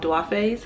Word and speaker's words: Duafes: And the first pair of earrings I want to share with you are called Duafes. I believe I'm pronouncing it right.